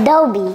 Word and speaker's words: Adobe: do we Cody do you know how to pronounce this yeah okay go ahead Adobe once again Adobe once again Adobe beautifulob okay